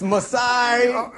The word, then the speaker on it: Masai Ujiri: It's Masai. It's got to be that for the rest of the time.